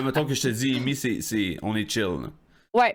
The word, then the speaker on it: Emeii: C'est la prononciation en anglais, donc ça se dit super bien. Depuis switcher en français, là, les gens ont beaucoup de difficultés, mais ça reste Amy.